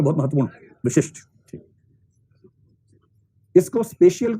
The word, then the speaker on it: spatial: अब देखो असल में स्पेशल स्पेशियल शब्द है और उसमें कई लोग उसके उच्चारण के वैसे गड़बड़ करते हैं।